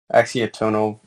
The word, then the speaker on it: Axiatonal: axiatonal lines that emanate Axiatonal. It's tonal. Axiatonal is a little different thing. No, you're right. Thank you. Axiatonal. I've been pronouncing it wrong forever.